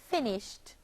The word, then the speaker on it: finished: fi n is H finish becomes the past tense verb if I n I s h ee d finished having two syllables okay boys and girls